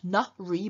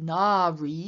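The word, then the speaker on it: nārī: based on nara man notice it's not na re but na ri so we have a long ah in the first syllable then we have saki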